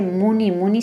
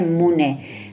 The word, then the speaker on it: muni: decir, y recordar que no se dice muni muni, sino se dice mune, que muchos textos ponen muni, pero es equivocado, porque el sánscrito no es como el inglés, creo que dice en Tíbet.